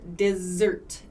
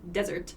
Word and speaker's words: dessert: pronunciation of dessert uh make sure dessert dessert so not desert not desert but dessert dessert can we have the